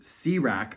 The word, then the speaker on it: CRAC: capital a Capital C crack pronounced cak oh it's not pronounced crack it's pronounced cak cak to avoid any unwanted connotations is a tool to